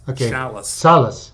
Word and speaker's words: Schalles: Yeah, it rhymes with the city of Dallas. Schalles.